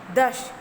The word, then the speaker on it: दश: दश। ये हो गया आपका तलाभ्य श, मतलब इस श का उच्चारण आप तालु से करते हो।